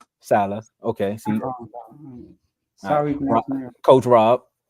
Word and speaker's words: Saleh: To come back, win, and have Robert Saleh, I think that's how you say it. Salah.